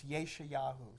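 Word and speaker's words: ישעיהו: to read from, and in Hebrew, it's Yeshayahu. So she said in this Christian school, she stood up and she said, the passage for today is from Yeshayahu, whatever, I don't know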